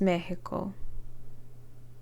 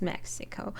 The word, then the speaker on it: Mexico: Is it pronounced Mexico? No. It's Mexico, and her native Elizabethtown.